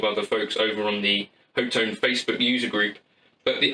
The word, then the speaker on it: Hotone: Hotone? Hotone sounds better, doesn't it? Because it reminds you of tone.